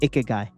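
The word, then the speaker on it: ikigai: that means to them how do you pronounce with m i guy right yeah i k i g a i i k i g a i okay guy all right we'll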